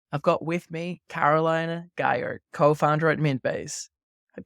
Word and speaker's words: Geier: me AVB today I've got with me Carolina Guyer co-founder at mint base at Kahari Caroline good